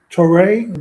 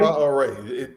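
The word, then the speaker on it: Traoré: Traore, the leader of Burkina Faso. That's how you pronounce his name? Traore? Ibrahim Traore. Ibrahim Traore? Traore. It's phonetic. It's just the way it looks.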